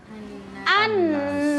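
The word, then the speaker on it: النَّاس: Jadi hamzahnya hamzah wasalnya kita beri tanda apa? Fathah. Fathah. Maka cara membacanya jadi annas.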